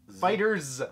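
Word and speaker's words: FighterZ: yeah Dragon Ball Fighter fighters apparently apparently that's the official pronunciation which I don't know it's a capital Zed and it ends in oh yeah okay looks really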